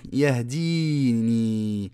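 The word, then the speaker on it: يهدين: puis huwa, puis lui yahdini, puis lui me guide, puis lui me guide. Par contre, quand on s'arrête, on ne prononce pas le ya, car il n'est pas écrit dans le mushaf.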